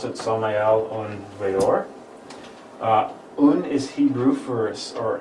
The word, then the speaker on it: Samael Aun Weor: If you're curious what the name means, it's Hebrew in origin, and that's how you pronounce it, Samael Aun Weor.